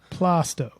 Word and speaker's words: Plaistow: We get pronunciations later. Help me, Plaistow? Plaistow.